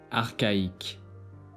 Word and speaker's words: archaïque: But in the words of Greek origin is pronounced as Que, Example: archaïque, chaos.